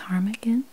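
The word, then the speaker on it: ptarmigan: bird is the willow it's harmigan if i'm pronouncing that right it starts with a p t a r m i g a n i'm guessing the v is silent okay and next we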